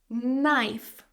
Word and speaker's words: knife: But knife, the main word here, has a silent K.